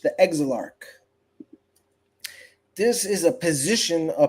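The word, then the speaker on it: Exilarch: The exalarch.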